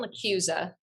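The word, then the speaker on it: LaChiusa: He wrote Bernard There's of Michael John LaCusa.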